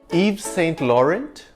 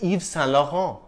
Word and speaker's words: Yves Saint Laurent: Yves Saint Laurent? No, mademoiselle. No, monsieur, c'est Yves Saint Laurent. The two N's aren't really pronounced. You just nasalize the preceding vowel sound, Saint Laurent.